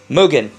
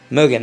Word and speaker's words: Mugen: Mugen, like almost like moo, like a cow. Moo, Mugen.